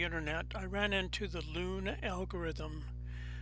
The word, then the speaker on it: Luhn: In recent wanderings around the internet, I ran into the Luhn algorithm. Luhn, pronounced l o o n, was a mathematician for